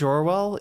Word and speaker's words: Orwell: I do know that his name is not George Orwin. I think that was the meme of the right winger saying this is just like George Orwell and not being able to pronounce his name correctly.